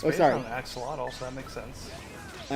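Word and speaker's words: axolotl: I mean, it's based on axelottle, so that makes sense. I apologize. I I should be pronouncing axelottle the appropriate way, which is the naw way, which is asholot.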